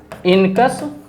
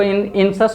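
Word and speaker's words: incus: दूसरा है इनकस, कोई कोई इसको इनसस भी प्रोनाउंस करता है। तो इनसस होगा या इनकस होगा? इनसस या इनकस? इसको सी को का या सा? का। देखिए सी के बाद जनरली जो होता है ना आई, ई या बाई, ये जब रहता है ना तब उसको स प्रोनाउंस करते हैं। ये चीज़ ध्यान में रखते हैं। बहुत लोग पढ़ते देखे हैं, उनको उसको इनसस पढ़ लेता है।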